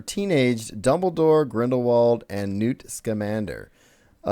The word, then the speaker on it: Scamander: There's a casting call out for teenaged Dumbledore, Grindelwald, and Newt Scamander. You pronounced it correctly.